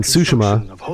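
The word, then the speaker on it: Tsushima: foreign words no that's it's suima has pronounced sushima there is one thing I I know about them it is not suim Lord is the of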